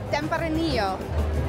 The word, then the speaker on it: Tempranillo: Pronounce it? Tempranillo.